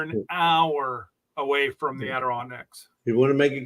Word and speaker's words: Adirondacks: Adirondacks.